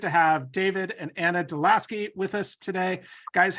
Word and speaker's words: deLaski: And we are so pleased to have David and Anna deLaski with us today.